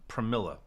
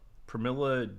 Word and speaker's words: Pramila: Pramila. Pramila Jayapal.